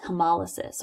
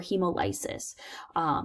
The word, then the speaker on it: hemolysis: swell up and burst is hemolysis or hemolysis you can pronounce it either way and you'll see